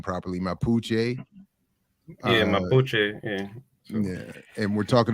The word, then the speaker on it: Mapuche: I'm saying that the the name the the pronouncing the name properly mapuche yeah yeah and we're talking about this group